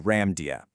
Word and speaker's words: Lemuria: But the spiritual reading claims the actual, authentic, ancient pronunciation was actually much closer to Lamudia.